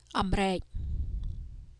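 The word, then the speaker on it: អាមេរិក: This word is pronounced amrek. Okay, mo again is the ending consonant of the first syllable and then the subconsonant ro becomes the initial consonant of the second syllable. So ro re go re amrek.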